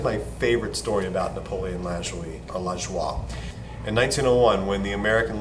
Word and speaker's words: Lajoie: Or like as a little kid, I used to say Lajoie. So I think it's pronounced Lajoie, so I'm going to stick with that.